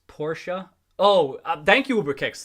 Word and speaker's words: Porsche: run kitty need to correct you on the pronunciation it's porsha oh thank you uber kicks thank you uh